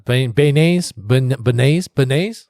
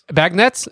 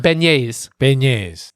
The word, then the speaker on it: beignets: I can't pronounce Beignets? Bagnets? It's not bagnets. That's literally, you should put B in front of a magnet, bro.